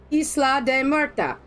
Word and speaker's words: Isla de Muerta: Thank you for pronouncing my phonics properly too. Yeah, Isla de Muerta.